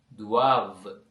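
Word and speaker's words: doivent: எல் துவாவ okay அப்ப அதை கடைசி செய்து பார்த்தீங்கன்னால் அவர்கள் அவர்களுக்கு அந்த என் தேக்கு உச்சரிப்பு கிடையாது. கடைசி ரெண்டு எழுத்துக்களுக்கும். அப்ப நாங்கள் அதை இல் துவாவ எல் துவாவ என்று நாங்கள் வாசிக்க வேண்டும்.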